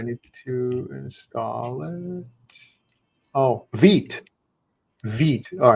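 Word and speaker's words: Vite: Oh, Vit. Vit. All right. That's how we pronounce that.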